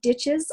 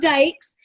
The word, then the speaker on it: Dyches: People pronounce it ditches all the time, or Dyches. It's Dykes.